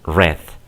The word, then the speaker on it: read: que poner mucho cuidado no cambia la escritura pero SI la pronunciation el pasado y el pasado par Scipio say promotional color Rojo okay em presentes read em pasado red pasado per se pure